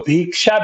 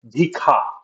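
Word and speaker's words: भिक्षा: So a lot of people will instead of saying ksha say kha. So bhiksha became bhikha or bhik.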